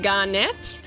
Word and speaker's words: Garnet: When I was a kid, I pronounced it Garnet. I mean, what 9-year-old wouldn't see it and think net, you know. So, but I will be pronouncing it as Garnet cuz, you know, sounds much better.